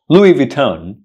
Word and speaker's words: Louis Vuitton: not Louis Vuitton it's Louis Vuitton Louis vuon Louis Vuitton Louis vuon so it's not Louis it's Louie Louis vuan Louis vuan